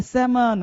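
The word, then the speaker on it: salmon: तो यहाँ पे देखो एल क्या रहता है, साइलेंट, तो बोलेंगे सैमन, मछली का नाम है।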